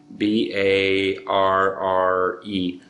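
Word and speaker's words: barre: It's what's called barring. B-A-R-R-E. Bar. B-A-R-R-E. Why they spell it that way?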